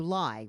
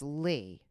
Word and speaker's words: Ly: So everybody called you Lai, Lai. Yes, exactly. And the correct pronunciation is Lee.